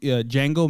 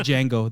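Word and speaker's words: Django: save a Jango no did Jango the the D is silent no but they messed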